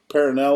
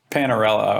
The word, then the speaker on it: Panarello: Rob, is it Parinello, or how do you say that, Lance or James? You guys know him? Panarello, I think. Yeah, that's it.